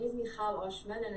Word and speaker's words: Michal: So my name is Michal Oshman, and it's not many people can say Michal, so thank you for pronouncing my name so well.